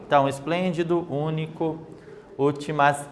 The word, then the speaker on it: esplêndido: quatro sílabas para a palavra esplêndido certo percebam lá onde está acentuação está em qual sílaba vamos lá sempre do final para o comércio então começa Olá uma duas três então última penúltima antepenúltima sílaba então está acentuada com um acento circunflexo na antepenúltima sílaba como que nós chamaríamos